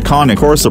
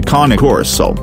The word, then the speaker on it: Cane Corso: Among the two, the KAH-NAY KOR-SO pressure bite topped 700 psi while that of a Bull Mastiff measured 556 psi. So 1 point to KAH-NAY KOR-SO.